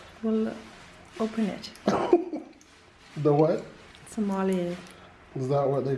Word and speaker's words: sommelier: Sommelier, Is that what they call the? a wine waiter. Oh, there you go. I know my stuff. Sounds like I'm a Somalian. I think I pronounced it right. Sommelier.